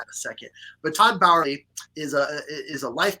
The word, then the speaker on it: Bauerle: your name right cuz I've always called you Todd Burley or Todd Barley or Todd Barley or I don't know. How do you say your last So does So does everybody else. It's Todd Bowery, technically, but you know, Todd just works.